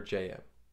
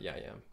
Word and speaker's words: Jayem: John Mark hammer or JM and I apologize for the other videos I mispronounce his name it's JM not Yim the way of Mastery